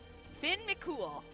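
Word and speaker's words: Fionn mac Cumhaill: How to pronounce Theon M It's literally Finn Mcool. Finn Mool. Finn Mcool. Okay, Vinn Mcool, here I come. It's literally that, huh? I guess that makes sense cuz coup is coo culin is cool.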